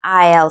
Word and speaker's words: aisle: Would you like a window seat or an aisle seat? 이때 창가 자리는 window seat, 통로 자리는 aisle seat이라고 하는데요. aisle이라고 읽으시면 안 되고 s는 소리가 안 나요. aisle이라고 읽으셔야 합니다.